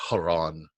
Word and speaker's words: Heron: It's named after actually Haran in the Greek pronunciation, but we nowadays call it Heron's formula.